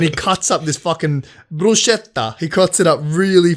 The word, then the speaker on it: bruschetta: First of all, it's bruschetta and that's bread. It's not fucking meat. Prosciutto. Oh, bro. I said bruschetta.